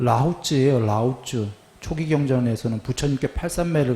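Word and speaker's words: 老子: 나와요 부탄은 아들 자예요 그 노자 할 때 자도 아들 자예요 그걸 라오쯔예요 라오쯔 초기 경전에서는 부처님께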